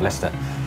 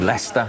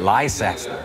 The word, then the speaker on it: Leicester: They couldn't even pronounce the name Leicester. They called it Liest.